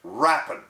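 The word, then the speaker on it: rapine: heard before the word is r-a-p-i-n-e and it's pronounced rappan now that word does not mean what you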